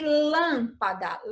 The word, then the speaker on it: lâmpada: Agora veja o exemplo de lâmpada. Lâmpada. Quando você pronuncia a palavra lâmpada, você precisa abrir muito a boca, como em fábula? Não, né? Ela é mais fechadinha.